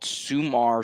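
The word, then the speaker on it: Sumer: There's a site called Sumar Sports. It's spelled S U M E R and they released something called Sumar Brain.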